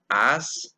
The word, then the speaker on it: as: there so the word ass in the phrase is pronounced as okay a weak sound okay so again Johnstone's